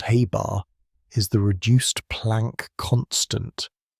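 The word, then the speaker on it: ħ: uncertainty in momentum, and h, pronounced Haybar, is the reduced Planck constant, a fundamental constant of nature.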